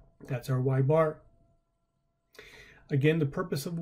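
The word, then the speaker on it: ȳ: So again, we actually pronounce it as y bar.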